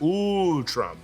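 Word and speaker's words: Utrom: Mutant Ninja Turtle universes their species name is pronounced ooh Trump a lot of ooze themes in the Ninja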